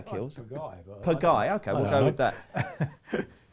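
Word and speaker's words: Pagaille: and is obviously pivotal to this, is Royal Piguet. That's a terrible pronunciation. What do you say, Kills? Piguet.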